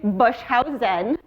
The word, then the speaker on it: Boshuyzen: my name is bush house zen that's how you pronounce my last name fun fact it means